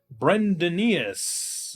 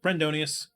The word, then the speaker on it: Brendonius: and I'll say Brendonius, I'll get things like Brendaneus or Brendanus, and it's like, yeah, no, I totally get it. Like you can guess, like, but no, Brendonius. That's how you say it.